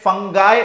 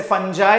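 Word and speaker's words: fungi: देखिए कुछ लोग इसे फंगई प्रोनाउंस करते हैं कुछ लोग इसे फंजा प्रोनाउंस करते हैं इट्स अप टू you okay so kingdom फं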